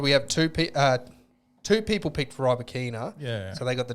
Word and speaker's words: Rybakina: Rybakina, and I've realised I'm pronouncing it wrong. I'm still pronouncing it wrong. Oh, that sounds right. I can't think of what the actual pronunciation is, but it's not Rybakina, it's Rybakina or something like that. It's completely different to what we're saying, but Rybakina.